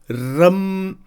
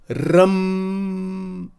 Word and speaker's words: Ram: See how it is pronounced? Ram, Ram.